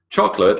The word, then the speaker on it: chocolate: Chocolate has 2 silent letters. Now we're going to talk more about the final E later on in this lecture, but chocolate, silent O, and then the silent E on the end.